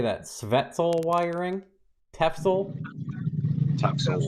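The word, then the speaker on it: Tefzel: Svetzel wiring? Tefsel? Tefsel?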